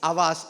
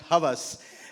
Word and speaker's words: Havas: Charles Louie AAS and in France H is silent so you know it's AAS and not Havas uh so so so